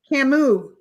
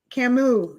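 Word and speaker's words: Camus: Camu. Camu is how you pronounce it.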